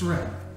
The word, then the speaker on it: Saran: Oh, good God, it's not ceramic. I was thinking like Sir Ram. Possibly. But no, it's Saran.